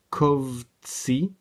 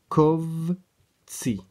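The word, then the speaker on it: קָבְצִי: Les Kovtsi, c'est bien un O ici, ça s'écrit A, mais le débutant ne sait pas encore qu'il faut le prononcer O, mais on prononce bien ici les Kovtsi.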